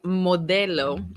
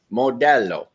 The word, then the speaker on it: Modelo: So, Mike McKinney, would you please say modelo again? We have to learn the right pronunciation. Modelo. Modelo. No, not like that. That sounded Italian.